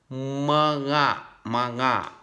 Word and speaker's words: mga: So you have to connect, mga. Like you are saying maga, okay, but you are stop. You have to mute the diphthong GA.